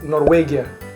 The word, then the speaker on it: Норвегия: Это Норвегия. Норвегия. В. Норвегия. Да, вы Норвегия. используете в, да. У нас используем в.